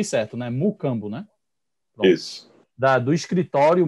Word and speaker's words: Mucambo: Ele é sócio fundador da Mucambo, pronunciei certo, né? Mucambo, né?